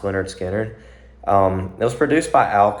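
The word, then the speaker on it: Lynyrd Skynyrd: So the song was released on April 13th, 1973, on that album, Pronounced Leonard Skinner.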